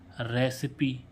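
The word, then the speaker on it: recipe: ना ऐसे देखें हम रेसिपी आर ई सी आई पी रेसिप क्यों नहीं पढ़ रहे ठीक है तो इसको रेसिपी ही क्यों पढ़ रहे हैं ऐसे इसमें जी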